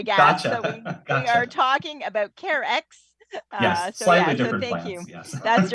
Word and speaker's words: Carex: uh so yeah so imagine the word care with an x on the end of it that's right well care X that's right we've also